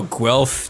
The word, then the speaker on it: Guelph: I don't understand how Guelph to you was an interesting pronunciation. By the way, David, like it sounds like how it's spelled.